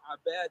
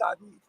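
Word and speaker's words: عباد: It says, "Humma abad ar-Rahman." Not Abid.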